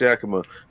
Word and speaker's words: Yakima: lacy i like the way you say that yakima that's how you pronounce it actually it actually is pronounced yakima by the way anybody ever hear about the